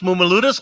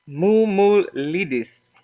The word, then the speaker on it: Mumulidis: I'm going with Mumuludis. How did I do? Mumulidis. Mumulidis. Okay.